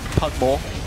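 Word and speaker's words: Pug'Maw: And I'll have you know it's actually pronounced Pugmore, not Cogmore.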